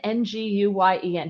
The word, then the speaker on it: Nguyen: Nguyen, Nguyen, N-G-U-Y-E-N. How do you pronounce that? You're an immigration attorney, N-G-U-Y-E-N. I would say Nguyen. Nguyen, okay. Nguyen. All right, and the N is silent.